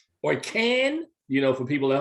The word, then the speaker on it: Cannes: Riley Keough, also has a film that's going to be premiering at Cannes called Beast, which is set on the Pine Ridge Indian Reservation.